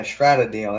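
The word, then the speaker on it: Stradale: Yeah, Stratdale. That's how you say it, depending on where you at in the world.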